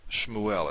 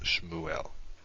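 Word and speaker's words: שמואל: can hear that you don't pronounce the shiva very much shmuel it's almost like a like these two consonants oh look at this i forgot my dot it's almost like these two consonants are a double consonant it's not though shmuel there is a little bit there shmu el if you say it fast shmuel okay let's look at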